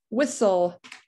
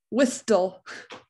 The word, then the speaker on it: whistle: don't hear the h whistle whistle no t in that one wreckage yeah we don't